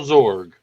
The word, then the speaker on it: Zorg: I thought you said Zorb.